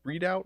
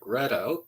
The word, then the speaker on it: Redout: Readout is obviously one that I watched that whole series that you did on am I pronouncing that? Is it Readout or Redout? Because Read out. Redout.